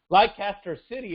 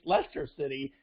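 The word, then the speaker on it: Leicester City: second division soccer league i don't even know how to pronounce the team's name lycaster city of the premier league it's lester city and he's still got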